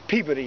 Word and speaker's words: Peabody: We'll talk about this gentleman later, Everett Peabody, or Peabody as they pronounce it in Massachusetts.